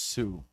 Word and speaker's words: Tsu: think is TSU and it's pronounced Sue Tristan Sue Tristan I